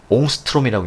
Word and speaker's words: 옹스트롬: 이걸 뭐라 읽냐면요, 옹스트롬이라고 읽는답니다.